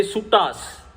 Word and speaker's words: Sutta: They say Suttas. The Ra will not be there.